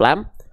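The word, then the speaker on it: لام: Ketika dia belum berharakat namanya adalah huruf lam. Saya tulis di atasnya, ya. Oke. Jadi, jangan teman, jangan ada di antara teman-teman yang bilang ini adalah huruf la. Tidak ada huruf hijaiyah yang namanya huruf la.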